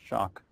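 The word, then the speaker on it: Schoch: uh it's s c o c but it's pronounced shock and he's written the book forgotten civilization where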